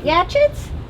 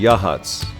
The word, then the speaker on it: Yachats: up the coast is well wait wait tell me how do you say it gadgets it is yeah chips right yatchets it's actually Yachats I think our first